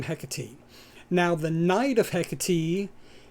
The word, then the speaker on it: Hecate: And the way the Greeks on the island of Cree pronounce it is hecati. So that is how I learned how to pronounce it.